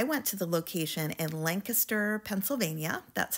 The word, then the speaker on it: Lancaster: Outlet so I went to the location in Lancaster Pennsylvania that's how the locals say it and I did uncover several Pottery